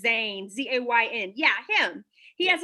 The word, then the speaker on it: Zayn: in this group knows yes is am i pronouncing it right when i say zayn terry says zayn z-a-y-n yeah him he has a song called